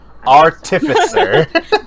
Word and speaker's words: artificer: I can never Artificer. pronounce Nope. Artificer.